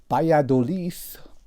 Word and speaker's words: Valladolid: most people and have they ever heard of Valladolid or to give it its proper Spanish pronunciation by a Dilys that's a bit of a mouthful and most